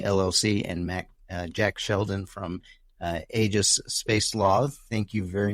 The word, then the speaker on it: Aegis: I pronounce it Aegis. Aegis. Every word in the military. So there's Aegis is used in a few different contexts in the military. So anybody with a military background pronounces it Aegis.